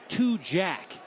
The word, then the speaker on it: Tujague: speedy underclassman in Tujague, spelled Tujague, but have it clearly here in the margin, pronounced Tujague.